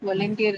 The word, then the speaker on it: volunteer: That's the question because of the the the nature of the last syllable right it's tier right here. So it has a diff thong. So whenever there's a diff thong in a syllable the stress is attracted to that particular syllable which carries the uh